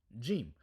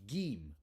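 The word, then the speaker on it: جيم: belly of gim G gim sometime sometimes when you're in Egypt you're going to hear this pronounced as with a gus sound so this might be Gem Gem but you will you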